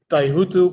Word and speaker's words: Taihuttu: some time ago you're the first host that pronounces my last name okay taihutu but that's because probably you have some indonesian